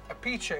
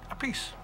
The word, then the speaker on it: Appice: Italians from Italian descent a peach a is the way you say in Italy but in America say episode Minnie yeah when I was with Rod Stewart we decided to say one more Carmine Appice so it's a piece anyway I've really really